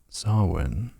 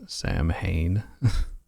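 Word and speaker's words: Samhain: there's a sign in the preview image saying sawin you want to bet they pronounce it as Sam Hayne you're Googling it oh it's a slasher movie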